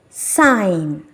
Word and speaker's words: sign: sound but in these words it becomes silent sign sign colon colon design design aign aign foreign